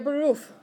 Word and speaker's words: Beruf: Der Beruf. Okay, rhymes with roof, right?